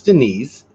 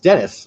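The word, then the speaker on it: Deniz: So I thought it was Denise. Dennis says it's pronounced Dennis. My name is Turkish. That's freaking cool. And means sea and used for both genders like Chris and Pat.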